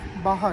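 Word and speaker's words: Baja: Then you have Baha, right? Baha. Yeah, Baha is very good. Baha designs. BAJ, you pronounce it as Baha.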